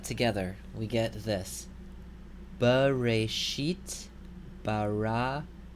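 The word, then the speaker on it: ברא: Okay, this word, here you notice that we have two kametzes in the first two syllables. So this word is pronounced bara.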